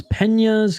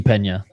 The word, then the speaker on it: Peña: jail we're Jiu Jitsu Pena literally Felipe Pena we're not talking about your girl uh whenever people say Pena instead of Pena pronounce it like John pronounce it like John Cena I'm picking Craig Jones